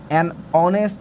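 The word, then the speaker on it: honest: আমার এ বসছে হ্যাঁ তারপর দেখো এইচ এর উচ্চারণ যদি হ এর মত না হয় তাহলে এন বসে যেমন অনেস্ট ম্যান এটা কিন্তু হনেস্ট না অনেস্ট অনেস্ট তারপরে হাওয়ার না এন আওয়ার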